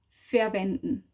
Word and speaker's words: verwenden: Wir verwenden sie mit der Schale. Use means verwenden. So verwenden. Wenden. Menden. So again, the n, you would spell den, but you say n. Wenden. Wenden. Wenden. Verwenden.